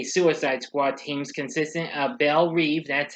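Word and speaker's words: Belle Reve: force x aka suicide squad teams consistent uh bell reeve that's how you pronounce it i apologize for mispronouncing the first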